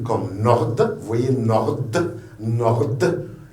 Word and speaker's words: Nord: M comme Martha, N comme Nord, vous voyez Nord, il y a un D à la fin, vous la prononcez Nord.